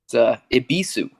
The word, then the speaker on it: Ebisu: Schwiz, the original creator, has told me that it's Ebisu. Ebisu is the Japanese god of good fortune or something like that.